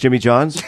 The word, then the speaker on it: Jimmy John's: Yeah, Jimmy John's, just like you'd assume.